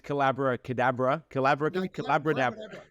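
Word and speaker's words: Collabradabra: The book is Callabradabra. It rhymes with abracadabra.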